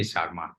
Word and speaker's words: Sharma: really how would be the correct way of pronouncing your name Dr Sharma yeah you can say Sharma no issue Sharma but would be okay Rebecca